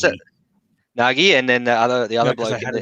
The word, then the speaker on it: Nagy: Nagy, and then the other bloke. I had a girl that went to my school with that surname was pronounced Nagy. Yeah, Nagy.